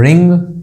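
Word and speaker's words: wring: यहाँ देखो इंग वाला तो रिंग या रिंग एक ही बात है। ये हो गई अंगूठी, ये है एक वर्ब निचोड़ना। डब्ल्यू यहाँ पे साइलेंट है तो दोनों की आवाज एक ही आती है, रिंग, निक।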